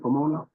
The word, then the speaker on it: Pomona: Is that correct, Pomona? Yes. Okay, I'm pronouncing that right.